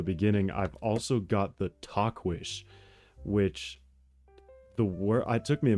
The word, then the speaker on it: Tahquitz: So it's spelled Tahquitz. That's not how you say Talkwish, but that's how you pronounce it.